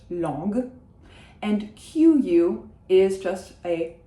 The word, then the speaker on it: langue: GU is a hard g, it is not gua, so it is not langue, it is just langue.